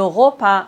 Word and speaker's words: repas: S comme le bras. Le repas. On ne doit pas prononcer S final.